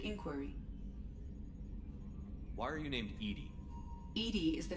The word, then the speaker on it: EDI: why are you named Edie Edie is the the phonetic pronunciation of EDI that is an acronym for enhanced defense intelligence makes sense why are you named Edie and now it's the